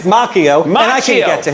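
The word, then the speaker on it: Macchio: It's Mchio. I am a fool for not knowing where that movie was shot. It's Mchio, and I can get to him if I wanted to.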